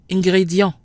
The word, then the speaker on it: ingrédient: If we compare the two words chia and ingrédient, we'll see that even though they both appear to have the combination I-E-N, which we said is pronounced ya, the combination sounds different in each word. Chia, ya, but ingrédient, yan.